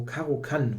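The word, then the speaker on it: Caro-Kann: Eternal Warrior played the caroan or caran yeah it's a it should be pronounced German but it's always difficult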